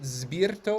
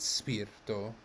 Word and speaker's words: spirito: tau of course yeah so spirito is it zberto or is it spirto it is an s so notice that when